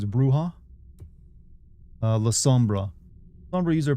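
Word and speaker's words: Brujah: Brua, it's Spanish, so you pronounce it J as H. It's Bruha.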